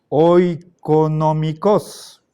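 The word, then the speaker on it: οἰκονομικός: El diptongo oi se escribe en latín oe, pero suena e.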